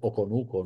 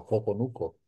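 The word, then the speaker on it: Hoconuco: Como vieron en las crónicas de Pedro Tomás de Córdoba, su grafía original era sin H, porque no es aparentemente la pronunciación ha sido Oconuco, no Joconuco, desde el principio.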